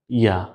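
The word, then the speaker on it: ياء: জিহ্বার মধ্যখান, জিহ্বার মধ্যখান, ওই জিহ্বার মধ্যখানের বরাবর উপরে তালুর সাথে লাগিয়ে বলুন জিম, শিন, ইয়া।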